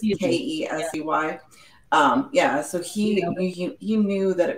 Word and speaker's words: Kesey: So Kesey, I want to say how to pronounce it. It's Kesey.